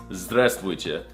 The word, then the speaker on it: здравствуйте: No, that's not how you say it. It's здравствуйте. Did you not learn anything from this video?